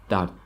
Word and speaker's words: дард: Normally, we don't pronounce the last letter D at the end, so it sounds like dard, dard.